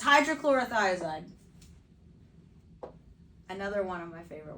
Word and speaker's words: hydrochlorothiazide: All right, so does anybody want to take a stab at how to pronounce this? The hydrochloride. Yeah, it's hydrochlorothiazide.